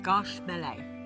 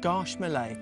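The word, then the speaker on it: Gâche Mêlée: How do I pronounce it to start with? Garche Mêlée. Garche Mêlée.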